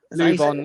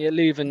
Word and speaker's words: Leuven: Next minute, I can't pronounce the name, so we have to bear with me. Levon. Leuven, yeah.